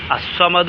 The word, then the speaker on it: الصمد: ലാമിന് എന്ത് ചെയ്യില്ല ഉച്ചരിക്കുകയില്ല അസ്സമദ് എന്ന് പറഞ്ഞാലും അള്ളാഹു സ്സമദ് എന്ന് പറഞ്ഞാലും ആ ലാമിന്റെ ഉച്ചാരണം അവിടെ ഉണ്ടാവുകയില്ല അതുകൊണ്ടാണ് ലാം ശംസിയ എന്ന്